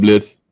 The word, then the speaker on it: Blythe: Well, what if the C is silent in California? You call So it it's Blythe. California. I call it Blith. And you call it Lithe. Blythe. What? California. The Blythe?